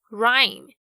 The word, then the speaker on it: rhyme: 荣誉，跟 heir 继承人，这些都是以 H 开头但是不发音的例子。那另外如果像是 RH 开头的话，这个 H 也是不发音哦，像是动物园里面的犀牛 Rhino 就是一个活生生的例子， R-H-I-N-O Rhino。或者呢是在写歌写诗的时候常常会要做的这个押韵 Rhyme，还有韵律节奏 Rhythm 也都是同样的概念， RH 开头 H 不发音。不过有一个等等大家在节目中会听到也是比较要注意的是 herb 香草药草 H-E-A-R-B herb。